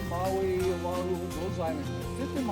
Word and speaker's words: Maui: You take Maui, M-A-U-I, pronounce the I like an E. Maui, not Maui, okay? Totally different.